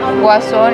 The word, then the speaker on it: Guasón: Guasón is Joker, yes. That's how you say it. El Guasón.